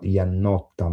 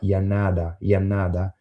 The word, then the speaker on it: Iannotta: I think this was Iannotta, but what happened is that people pronounced this last name in the American way, which is not Iannotta but Iannada, and this is the way then it was spelled.